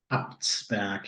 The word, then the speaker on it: Abtsberg: Abtsberg, am I pronouncing that correct? Abtsberg, yeah.